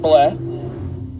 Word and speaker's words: Blea: I think it's pronounced Bleh.